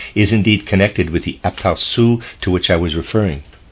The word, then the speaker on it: aperçu: indeed connected with the aperçu to which I was referring.